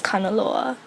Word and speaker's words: Kanaloa: is called tangaroa and in Havi we pronounce tangaroa as kanaloa each place has their